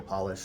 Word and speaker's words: Polish: it for them polish like nail polish or shoe polish that's how you pronounce it that's founder of